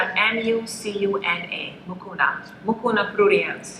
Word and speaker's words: mucuna: Ones that go for both, we have cistanche, we have mucuna, and there is a part about mucuna you want to talk about?